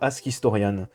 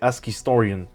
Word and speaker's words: AskHistorians: me balade souvent sur ask historian oui je le prononce mal normalement c'est ask historian tu sais quoi on